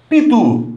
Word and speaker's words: Pitu: Então, as 3 palavras trazem a sílaba tônica na última posição.